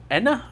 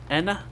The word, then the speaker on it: Ena: Enna, I think it's how you say her name. Enna.